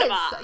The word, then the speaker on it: cinnabar: Cinnabar. You're right. That's how it's pronounced.